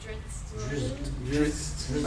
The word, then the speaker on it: Drizzt: Can somebody pronounce the name? Drizzt.